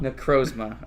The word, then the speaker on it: Necrozma: ones, but I mean, how are you gonna say his name? Necrozama. Go ahead and say it. Necrozma? Necrozma. All right, that's what Neil's sticking with, and that's what we're gonna go with.